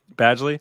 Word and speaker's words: Badgley: It's Badgley.